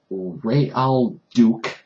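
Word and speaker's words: Raoul Duke: Johnny Depp plays Ray Al Duke. That's how you pronounce his name, and he's kind of like a fictionalized version of Hunter S.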